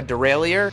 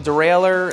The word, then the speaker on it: derailleur: It seems like people in Britain all seem to call it a derailleur. I call it a derailleur, and that's okay. It's just a different pronunciation.